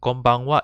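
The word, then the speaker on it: こんばんは: cut the konichiwa and konbanwa even though it's written as ha it is actually pronounced as wah origin from the kanji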